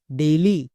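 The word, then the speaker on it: daily: টেইল একই রকম ভাবে ডি এ আই এল ওয়াই ডেইলি এম এ আই N main একে আমরা ভুল করেও টেল ডেইলি বা মেন এরকম বলতে পারবো না বোঝা গেল তাহলে এ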